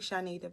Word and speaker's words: Chonita: They could pronounce it wrong. I just be like, it's something like, is that right? I'd be like, no, it's really Chonita, but it's cool.